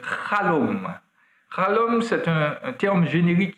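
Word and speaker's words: חלום: connaissons bien, sauf que ça se prononce avec un chet, qui est une voyelle exagérée prononcée en hébreu, donc chalom.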